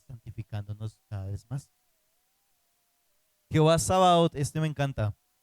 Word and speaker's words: Sabaoth: Jehová Sabaoth, este me encanta. 1 Samuel 1:3. Sabaoth se escribe como suena, pero Sabaot.